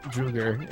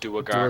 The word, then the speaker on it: Duergar: The party informs me that their mercenaries sent out to resolve a political dispute between the Drow, Druger, and elves and dwarves. Duergar. They're pronounced Duergar.